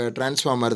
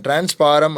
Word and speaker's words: transformer: ஸோ எலக்ட்ரிசிட்டியில் main important thing நமக்கு டிரான்ஸ்ஃபார்மர் தான். அண்ட் அட் the same time நம்ம வில்லேஜில் நீங்கள் கேள்விப்பட்டிருப்பீங்க, இதை வந்து எப்படி சொல்லுவாங்க அப்படின்னா டிரான்ஸ்பாரம் அப்படின்னு சொல்லுவாங்க. டிரான்ஸ் அப்படின்றத ப்ரொனவுன்ஸ் பண்ணுவாங்க, இந்த ஃபார்மர் அப்படின்றத பாரம் அப்படின்றாங்க. ஸோ டிரான்ஸ்ஃபார்மர், ஸோ கரண்ட்டை வந்து டிரான்ஸ்ஃபார்மர் பண்ணும்.